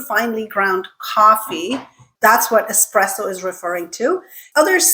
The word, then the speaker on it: espresso: Is it espresso or espresso? This one is actually a little bit tricky. So the word is Italian, and technically the way to say it correctly is espresso, okay?